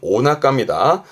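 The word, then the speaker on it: お腹: 조심할 건 배복자 혼자 있으면 하란데 5가 붙어 있으면 발음은 오나가입니다. 5를 뺀다고 해서 낙가라 하지 않습니다. 5가 없으면 하라. 오가 붙어 있으면 오나가.요 오나가는 단어를 분리하시면 안 됩니다.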